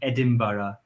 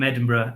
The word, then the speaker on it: Edinburgh: So British English or received pronunciation, which is the standard English, would say Edinburgh with an ara on the end. But I say, because I'm in it from Edinburgh, and in Edinburgh we say it like this, Edinburgh.